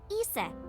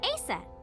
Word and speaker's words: Isis: is named isis but in ancient egyptian it's pronounced closer to isa or asa hmm how do i